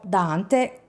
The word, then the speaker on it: Donthe: più popolare del college, Dony Lucas, che nel video pronuncerò Dante, come nei documentari americani che ho visto sul caso.